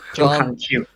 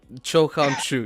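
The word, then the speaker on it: Cho Han-kyu: Cho Han Cho Han Kyu. Cho Han Kyu, yeah. Kind of kind of sounds like kind of sounds like a sneeze. Cho Han Kyu.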